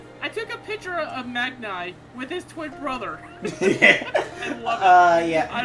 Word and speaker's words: Magnai: So, how do you pronounce his name? Magnai.